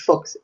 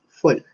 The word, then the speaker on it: Folch: El apellido es Edison, no es Fox, es Folk. F-O-L-C-H, que en catalán se pronuncia folk.